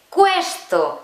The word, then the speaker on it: questo: Esta palabra, que tú la leerías questo y no, se dice questo.